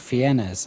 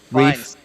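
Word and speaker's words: Fiennes: Original Voldemort actor Ralph Fiennas. I hope I'm pronouncing that right. Ralph Ralph. Fines.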